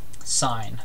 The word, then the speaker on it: sin: functions defined on circles here's the first one sign its full spelling is s-i-n-e so it's pronounced sine but it's abbreviated s-i-n-sin okay but